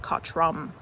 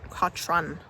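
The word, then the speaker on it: Cochrun: I think I said Katrum. It's Katran with an N.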